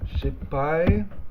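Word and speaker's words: 失敗: it is shippai, where this character on its own is just pronounced hai. And the reason for that, I've mentioned this before, is that historically, the H sound, ha, in Japanese, was a P.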